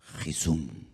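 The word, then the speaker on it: חִסּוּן: Y mira tú por dónde la palabra vacuna, en hebreo se pronuncia Jisum.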